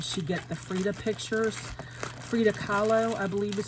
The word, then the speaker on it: Frida Kahlo: and where did she get the frida pictures frida kahlo i believe is how you pronounce her name and artist um look at